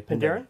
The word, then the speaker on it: Penderyn: Am I saying that correctly? You're saying it right, yeah. Penderyn?